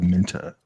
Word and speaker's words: Minter: It's actually by Minter too. I said it wrong. Emiliano Roca Minta. So There you go.